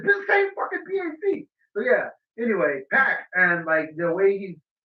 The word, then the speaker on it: PAC: Pack. Pac, like a 6-pack.